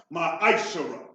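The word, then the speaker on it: מעשר: verse 8 through 10 means 10 in Hebrew and is pronounced my Akshara 10% of every penny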